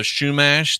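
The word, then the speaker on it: Chumash: I didn't know much about your people, the Shumash. That's how you pronounce it, right?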